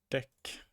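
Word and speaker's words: deque: removal at both ends double ended Q oh that's what it stands for it's usually pronounced Deck Tech implementations place no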